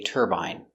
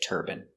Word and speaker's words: turbine: In America, it's more common to hear turban, but in England, they say turbine. Some people in America say turbine, but it's more common in America to say turban.